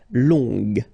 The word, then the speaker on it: longue: Okay, so long, remember you don't pronounce the final G, will become longue. Okay, so phonetically it's longue, g, longue. So long, masculin, longue, féminin.